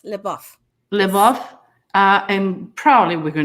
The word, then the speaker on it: LaBeouf: amanda bynes and shia do you know how to pronounce his name yes live off uh and probably we're